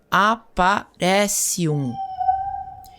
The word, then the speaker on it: Aparecium: sua varinha no objeto e dizer o encantamento, Aparecium, que se pronuncia Aparecium.